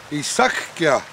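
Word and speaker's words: Eesukyah: Isakya.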